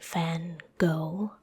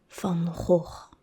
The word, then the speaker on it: Van Gogh: but the first name, I know you all say Van Gogh, but it's actually Van Gogh. Van Gogh. Van Gogh. Van Gogh. So it's two throat sounds, two Dutch G's that are hard to pronounce. So yeah, it's not Van Gogh, it's Van Gogh.